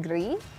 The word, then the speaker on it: Gris: Okay, it pronounced Greece, and yes, French and Spanish, so Gris. Gris. It's like, picture it G-R-E-E.